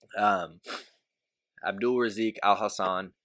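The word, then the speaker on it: Abdul Razak Alhassan: It's Joaquin Buckley versus Abdul Razik Al Hassan. Had to look to make sure I'm pronouncing it right because I have the pronunciation written down right here. Abdul Razik Al Hassan versus Joaquin Buckley.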